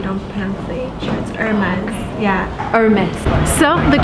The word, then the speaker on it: Aramis: band so you don't fancy very much yeah Aramis so the correct way to pronounce it I was wrong yahoo pronounced last